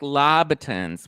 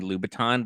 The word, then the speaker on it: Louboutin: doesn't love lab attends she means Louboutins Chris as in Christian Louboutin the red bottom shoes they're pronounced Louboutin lupatin I think it's Louboutin I have I have